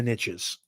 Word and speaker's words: niche: money riches in the niches even though i like to say niche which is actually the proper way of saying it it doesn't rhyme with riches the riches are in